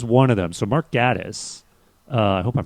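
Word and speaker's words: Gatiss: and this was one of them so mark gaddis uh i hope i'm pronouncing that right gattus yes marcus uh he the writer of this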